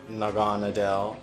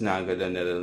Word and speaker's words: Naganadel: Its evolution, Naganadel, Naganadel. People have several pronunciations for it. I prefer the pronunciation Naganadel.